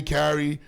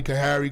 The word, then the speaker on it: Khari: By the way, I don't just don't call me. You could call me Carrie, call me Kahari, call me Krie.